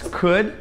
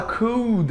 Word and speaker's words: could: Então, as palavras que eu vou mostrar pra vocês aqui, na verdade, pra gente é difícil perceber que não tem som de L, porque a gente puxa pro som de U.